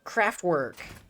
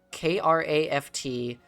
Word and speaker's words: Kraftwerk: band, Kraftwerk.